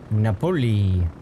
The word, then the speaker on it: Napoli: Napoli.